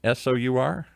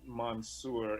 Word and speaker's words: Mansour: And Mansour is Monsour? Mansoor. Oh, okay. I'm glad I asked. 2L, right? 2L? Yes. All right. Mansour. He's saying MAN. MAN. MANSOOR. Mansour. And the X is silent. You don't pronounce the Y.